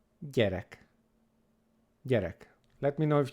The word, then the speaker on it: gyerek: I like to explain it as if you pronounce the letter D, D, D, and you